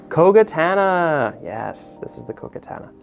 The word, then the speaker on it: Kogatana: I can never pronounce the name of this one right. Kogatana.